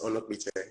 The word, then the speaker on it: Onokpite: Onokpite. Did I pronounce It's that fine. right? It's Onokpite.